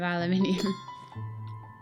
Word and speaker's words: aluminium: gods in this game they have used the American spelling of aluminium but I as an English person shall be using the English pronunciation of aluminium we do this before